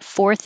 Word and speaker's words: fourth: number four position and the vowel is or so you have to round your lips and curl your tongue back for the r four and then go from the r curled back to the tongue between the teeth so that's a big movement fourth and you should